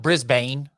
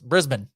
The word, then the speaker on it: Brisbane: You like how I said it right? Brisbane, right? Not Brisbane. It's Brisbane.